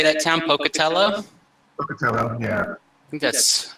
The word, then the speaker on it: Pocatello: Pocatello, yeah.